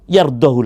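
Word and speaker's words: يرضه: wa taala waain taskuru yardohu lakum jika kalian bersyukur maka Allah Rida kepada kalian ingat walaupun di sini ada matsilah tulisannya tapi dibacanya pendek tidak boleh yard karena sebetulnya sebelumnya jazm atau sukun jadiur surah azzumar ayat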